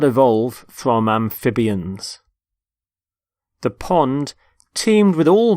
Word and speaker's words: amphibian: the first word is amphibian amphibian notice the stress on the middle syllable amphib amphibian there are animals such as